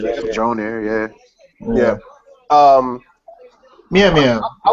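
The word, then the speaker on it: Mjölnir: I don't know how to fucking pronounce that. Mjolnir, yeah.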